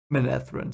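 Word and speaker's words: Manetheren: episode reaction that's why i know how to pronounce it now menethren so yeah it's i hope we get more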